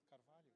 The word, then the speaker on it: Carvalho: Carvalho. Carvalho? Carvalho. Well, I'm half Portuguese. It's like Cornolio.